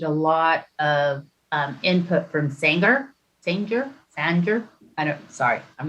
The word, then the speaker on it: Sanger: lot of input from Sanger. I'm not sure how to say it. Sanger. Sire? S-A-N-G-E-R? You have to throw a bit of an Okie accent into it.